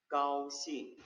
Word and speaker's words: 高兴: 高兴，高兴， 네, 까오 1성이죠. 싱 4성이에요. 까오싱.